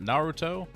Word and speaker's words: Naruto: Naruto.